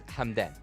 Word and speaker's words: Hamdan: seven is an etch so his name is hamdan or like hamdan and yeah there's a lot of things happening in the keyboard for us but yeah you can pronounce his name as hamdan it's it's kind of